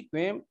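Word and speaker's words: Kwame Nkrumah: हाँ, क्वेम कोरमा, लेकिन एन से शुरू होता है, एन साइलेंट एन के नाम है। KWAME, क्वेम, NKRUMH, ये घाना के राष्ट्रपति थे।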